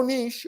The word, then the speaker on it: niche: a group of people a narrow Niche or niche as you Americans say that has a problem